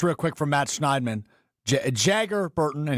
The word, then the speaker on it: Jagger: Um just real quick from Matt Schneiderman, Jagger Burton and he in parenthesis says it's pronounced like MC Jagger.